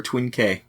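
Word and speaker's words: Twinn-K: rated my question is do you pronounce it twink or twinkie oh that's my question because it's hyphenated twin k it it is twin k inc but what do you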